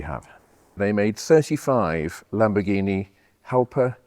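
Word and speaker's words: Jalpa: They made 35 Lamborghini Halper, Yelper, however you pronounce it in Italian. Yelper, because there is no J in Italian, apparently. So even though they they called it a name with a J.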